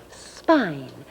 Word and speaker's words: spine: pine now suppose we put that silent e at the end of pin again but this time put the s in front again and we get sp ein spine the bones that run down